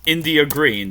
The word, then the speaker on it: India: Now that is pronounced India green. So on all of my stuff she was India cuz she said told me it's pronounced like the country.